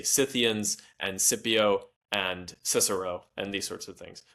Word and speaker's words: Cicero: Technically the Latin and the Greek every time there is a C it is always pronounced like a K.